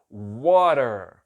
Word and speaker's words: water: Este A tem som de O, este T tem som de R, este E tem som de A. Então fica water.